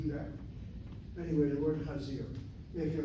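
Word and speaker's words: חזיר: Anyway, the word chazir. If you're called a chazer is the Yiddish Ashkenazi pronunciation.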